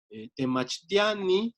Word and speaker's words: temachtiani: Temachtiani siempre va a tener la sílaba temachtia, bueno, ti, ani, como, perdón, la A en realidad, temachtiani, como la tónica.